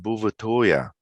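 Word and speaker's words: Bouvetøya: norwegian territory and in norwegian the island is pronounced bhuvatoya it was discovered by a french explorer sometime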